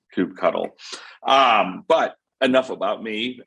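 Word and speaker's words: kubectl: my podcast and yes my license plate does say cube cuddle which means i am authoritative on how to pronounce it which is coop cuddle um but enough about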